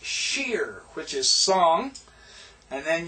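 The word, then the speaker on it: שיר: book this is Sheen notice the dots on the right therefore it's sh right sheer notice the H is an i and then the yod and then the re this is pronounced sheer which is song and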